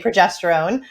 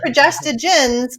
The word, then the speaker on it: progestogen: family called progesto but most people pronounce that wrong get it wrong and just say progesterone but unfortunately like I did I just call it progesterone I just you got it right yeah so progestogens can